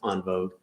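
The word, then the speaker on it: en vogue: all one word gems n vogue which is pronounced on vogue as my french speaking wife tells me um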